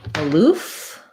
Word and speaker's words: aloof: And then your other word was aloof. That has second syllable stress. So letter A says schwa. And then the two O's say oo.